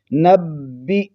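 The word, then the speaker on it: نبئ: اس کو پڑھیں گے نبی، با کو جماؤ کے ساتھ، با پر شد ہے، نبی، اور حمزہ کو جھٹکے کے ساتھ، نبی عبادی، نبی عبادی،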